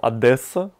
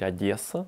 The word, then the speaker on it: Одесса: девяносто девятом в Одессу до этого я город называл Одесса вот он меня научил правильно говорить Одесса очень мягенькая впервые увидел компанию его